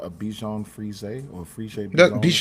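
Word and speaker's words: Bichon Frise: to get yelled at by my wife for mispronouncing this. I believe it's called a Bjon Fay or Freeshaped dog. Bjan Bjan Fay.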